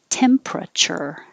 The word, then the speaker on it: temperature: was literally dying and this one we take out the er in the middle and make it shorter temperature temperature what's the temperature